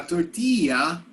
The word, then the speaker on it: tortilla: A tortilla, that's not how they say it in Spanish, but that's how they pronounce it in English.